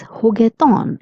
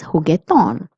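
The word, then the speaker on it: juguetón: So, it will be pronounced as heton playful. Also, please notice that there is an accent on the O. So, you're going to stress on this O. So, it will be heton which means playful.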